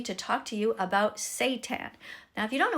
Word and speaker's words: seitan: It says, it's pronounced like that, seitan.